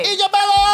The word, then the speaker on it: Isabella: I-S-A-B-E-L-L-A. L-L-A. Isabella!